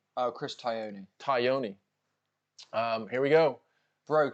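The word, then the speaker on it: Chris Tognoni: How do you pronounce the referee's name? Chris Tyone.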